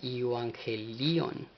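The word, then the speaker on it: εὐαγγέλιον: Ahora, estas palabras nos dirigen al G2098, lo cual se pronuncia Evangelion, Evangelion, y pues aparece 77 veces en 74 versículos, lo cual significa el Evangelio.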